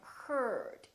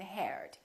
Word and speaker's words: heard: Or e a r. For example, learn and heard. Don't say learn and heard.